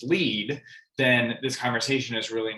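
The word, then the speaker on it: LEED: conversation where this broker doesn't even know the acronym is pronounced lead then this conversation is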